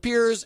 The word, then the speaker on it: Piers: say his name right most people call him Pierce when Speirs and he doesn't even bother to correct them huh yeah he doesn't think about this okay Piers Morgan a guy who people say his name wrong constantly calling him Pierce instead of peers and he doesn't even